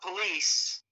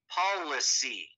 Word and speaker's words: policy: The people, politic, the power to make policy, not police, it's pronounced policy.